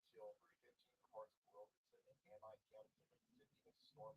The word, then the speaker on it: Amite: Hey, how do you pronounce Amite, A-M-I-T-E County in Mississippi, like the locals, Amite or Amite? It's pronounced Amit County.